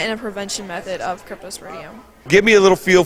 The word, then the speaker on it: Cryptosporidium: do you pronounce that c ry PT o SP o RI di um Cryptosporidium all right and now